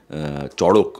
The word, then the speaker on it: চড়ক: ছবি আমি করতে চাচ্ছিলাম চরক বলে চড়ক বেসিক্যালি প্রোনাউন্সিয়েশনটা সেটা একটু পোস্টপোন রয়েছে